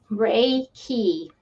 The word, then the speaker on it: Reiki: it but anyway so and it's Ray key Ray meaning Universal and